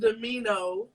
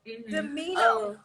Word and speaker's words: Demino: Well, it's actually pronounced Demino. Demino.